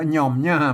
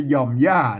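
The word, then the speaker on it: ย่อมย่า: ย่า อ่าน อ่าน ว่า ย่อม ย่า ไม่ ใช่ หย่อม หญ่า นะ ครับ อ่าน ว่า ย่อม ย่า นะ ครับ อ่า เนี่ย โอเค นะ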